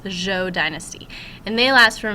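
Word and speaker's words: Zhou: the Z so it's kind of like Joe but with a softer J that's how that Z is pronounced the Joe Dynasty and they last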